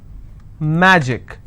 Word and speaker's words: magic: Magic, I will stress on ma.